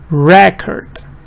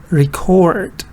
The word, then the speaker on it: record: So here stress is on the first part, yes, this part that is written in capital letters, record. But here stress is on the second part, the part that is written in capital letters, record, record. So you see that also the vowels are changing. In the first one your vowel is record, but here it's record. So also the vowels are changing and also the stress pattern is changing.